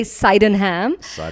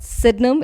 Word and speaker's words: Sydenham: you spell that s-y-d-e-n-h-a-m so a lot of americans say seidenham because he was an english physician i mean for two centuries his textbook was the standard textbook um in medicine so thomas sidnum is his name so the clinic is called sydnum it's spelt seidenham s-y-d-e-n-h-a-m